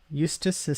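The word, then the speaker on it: Eustice: Eustace rhymes with useless.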